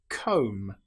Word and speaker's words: comb: An example might be lamb or comb. Here we don't pronounce the B. We don't say lamb. It's just lamb or comb. The B is totally silent.